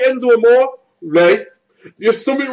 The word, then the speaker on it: Amore: If you don't like Enzo Amore, Ray, there's something wrong with you. Come on, say it. It's not Amore. There's not an accent on the A.